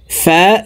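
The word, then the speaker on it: ف: সি সুছা সি সু ফা জবর ফা ফা জের ফি ফা পেশ ফু ফা ফি ফু ফার উচ্চারণ উপরের দাত নিচের ঠোটের পেটের সঙ্গে লাগিয়ে দ্রুতভাবে উচ্চারণ করব ফি ফু ও জবর ওয়া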